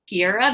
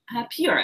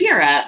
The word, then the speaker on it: Piura: It says grown in the Alto Piora Valley. Is that how you say it? Piura, I believe. Piura Valley.